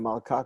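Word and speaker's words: מלכה: Melech, king, and malka, queen. We've seen those before. Melech gets stressed on the first syllable. Malka gets stressed on the second, the last syllable.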